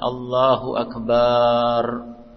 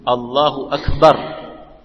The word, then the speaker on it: Allahu Akbar: Sebagian orang jika baca takbir ba-nya dipanjangkan, Allahu Akbar, jadi salah. Sebagian orang begitu, Allahu Akbar, panjang ba-nya. Nah, Jadi harus tepat karena ini rukun. Allahu Akbar. Akbar, jangan dipanjangkan ba-nya.